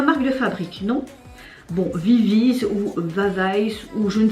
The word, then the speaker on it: VIVIZ: Comme vous le savez, hier, le trio Vavais, oui je vais le dire Vavais alors que je sais qu'on ne prononce pas comme ça.